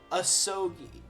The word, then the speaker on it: Asogi: How do you pronounce it? Asogi.